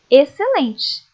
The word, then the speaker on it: excelente: Leiam comigo: exceto, exceção, excelente. Perceberam que essas palavras, o C é pronunciado, o X acaba ficando sem ser pronunciado. Como tem o C ali, apenas aparece o som dele mesmo, ok?